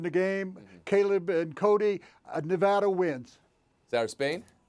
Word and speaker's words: Nevada: Caleb and Cody, Nevada wins. Sarah Spain? You guys keep saying Nevada. Are you doing that on purpose after I told you all it's Nevada?